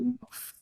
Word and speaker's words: enough: enough?